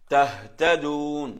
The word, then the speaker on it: تهتدون: இந்த ஹா இருக்கு தானே, அந்த ஹா இங்க தொண்டை கொஞ்சம் இங்க தொண்டையில் வர எழுத்து ஹல்குல எடுத்தா கொஞ்சம் தொண்டையில் அப்படி கீழே மாறி வரும். تهتدون تهتدون تهتدون.